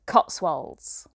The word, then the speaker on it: Cotswolds: So I hope you enjoy London, and you are correct, it is pronounced Cotswolds.